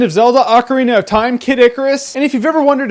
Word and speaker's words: Kid Icarus: the 3DS Legend of Zelda Ocarina of Time kidicarus and if you've ever wondered if it's pronounced kidicarus or Kid Icarus it's Icarus Icarus thus saith